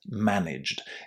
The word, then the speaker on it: managed: So just remember, no extra syllables, and if you can't say zd or jd, as in managed or realized at the end of the verb, just say st or cht. It's going to be fine.